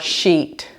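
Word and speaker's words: Scheat: conjunct the fixed Star sheet and sheet is spelled s c h e a it is the fix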